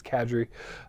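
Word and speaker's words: Kadrey: pronounce the last name it's not Kadri it's cadri uh sorry okay I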